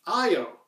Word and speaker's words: Io: carl sagan in 1980 he himself referred to that moon as I oh and I think okay if Carl Sagan says I oh that's got to be the right way my friend for whatever reason decided to correct me is like you know technically speaking it's named after a Greek god I think of romantically so the Greeks themselves would not say I oh it would say you and for some reason